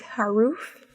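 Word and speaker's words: Haruf: souls at night by Kent high-roof I think is how he pronounced his name and this book I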